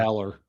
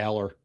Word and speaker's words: Allar: I say Aller. I just say Aller.